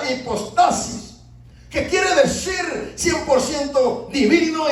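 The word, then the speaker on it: ὑπόστασις: se encuentra una palabra griega que se pronuncia de esta manera, hipostasis, que quiere decir 100% divino y 100% humano, o sea, refiriéndose a la naturaleza de Cristo.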